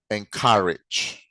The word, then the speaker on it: encourage: Encourage. And it is stressed on the second syllable, okay?